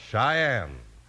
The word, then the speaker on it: Cheyenne: Our second western word for today is Cheyenne. It's spelled C H E Y E N E, and it's pronounced Cheyenne. Today, Cheyenne's the name of